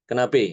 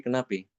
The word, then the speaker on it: kenapa: Tapi ada sebagian yang mungkin karena kebiasaan ya, jadi dibaca pengucapannya bukan kenapa tapi kenapi.